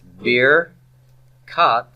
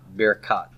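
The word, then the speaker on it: ברכת: So it's bir kat Avram. So baracha became birkat. So say that with me, birkat. Birkat. Every time I hear birkat, it makes me think of a beer cat.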